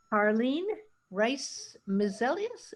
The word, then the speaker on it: Carline Brice-Mesilus: Carline Brice-Mesilus, am I pronouncing that correctly?